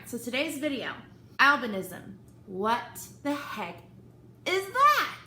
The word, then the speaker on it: albinism: What's albinoism? What's albinism?